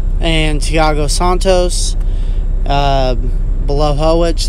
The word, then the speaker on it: Blachowicz: contender fight between yan bala Hoek and Thiago Santos below hull which that is like apparently how you pronounce that name polish names tend to